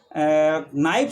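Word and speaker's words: knife: जैसे अपन नाइफ शब्द लेते हैं चाकू का, तो इसमें के साइलेंट रहता है।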